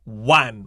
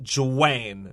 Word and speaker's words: Juan: j-u-a-n that means john is pronounced one with a w so it sounds like